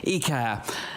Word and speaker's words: Iker: with one of the stars of a show II care am i pronouncing your name correctly yes you're there yes